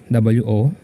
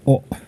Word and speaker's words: を: the hiragana um yeah although it is wo in speech you should pronounce this as o as o as in